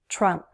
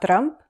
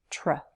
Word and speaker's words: Trump: Trump. One syllable, and be careful with that TR. Don't roll your R, don't trill your R, not Trump, Trump. Trump.